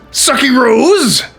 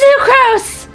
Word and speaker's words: Sucrose: Sucky Rose? Secrets. It's Sucrose! Don't you dare get my name wrong or I'll hog tie you, dip you in 5 gallons of Storm Terror semen.